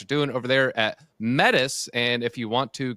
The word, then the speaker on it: Metis: There's a very easy way to remember it. We say there is me in Metis.